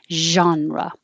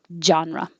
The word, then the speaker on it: genre: differentiate and this one genre it's from french so that looks like a g but it can be